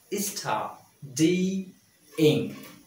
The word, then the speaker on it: studying: Studying. Studying. Okay? Three syllables. Studying. Not studying. Okay?